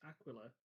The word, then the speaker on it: Aquila: It's Aquila because it's like aqua, which is from the same root language. I don't care how they say it in Dark Tide, they're wrong. Aquila from Aquilus, which means eagle.